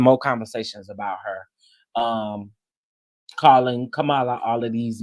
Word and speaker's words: Kamala: Kamala. That's how you say it, like a comma, love. You know what I'm saying? Kamala, right?